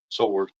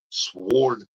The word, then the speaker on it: sword: Sword, sword, sword. Hey, get that sword out. The W is silent.